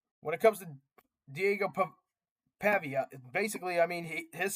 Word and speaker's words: Pavia: stop a guy like Diego Pava or sorry guys I am struggling to pronounce his last name. I'm so sorry Mr. Diego over for Mr. Diego Pavvea for or Pavia. Okay. Diego Pavia. I finally got it figured out.